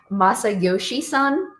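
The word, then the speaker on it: Masayoshi Son: So, SoftBank CEO, his name is uh Masa Yoshi Son.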